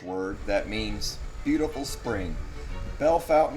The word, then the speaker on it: Bellefontaine: that means beautiful spring Bell Fountain is just an English way of saying it here I got this